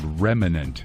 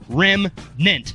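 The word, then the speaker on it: remnant: his pet peeves is the word remanent it's not reminisce on Rimma brandt or whatever the toothpaste is rim meant two syllables two syllables I called the stick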